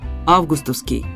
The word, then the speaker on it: августовский: Если хотите что-нибудь одно смотрите только в словарь ударений там нам советуют говорить Августовский с ударением на Первом слоге собственно этот же вариант